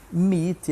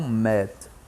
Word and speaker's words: meet: mas vezes o Walter Mitty encontrar conhecer Me enfim né reunião encontro então a pronúncia correta é Mit e Não meta certo quando nós temos